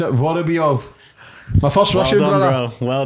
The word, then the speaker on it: Vorobyov: I'm going to have to pronounce it Vorobyov.